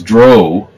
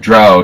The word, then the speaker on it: drow: So and besides, if you all your life have thought that it was drow to rhyme with row, not drow to rhyme with cow, I mean, I know it's drow to rhyme with cow because I happened to be at an early Gen Con where Gary was asked that, and he, for the 1500th time, gave the answer.